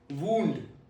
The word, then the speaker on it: wound: The first one, wound. Wound. Wound. It rhymes with moon.